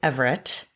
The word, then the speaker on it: Averett: But I am here with the fabulous Everett. Did I pronounce? Yeah, rhymes with favorite.